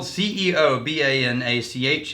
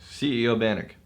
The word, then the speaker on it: Ceobanach: It's spelled Ceobanach. It's Ceobanach. CEO Bannock.